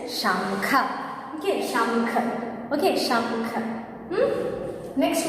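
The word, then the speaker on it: शंख: Okay, so whenever you used to say casually, we used to say as shank only, but the correct pronunciation is shankha.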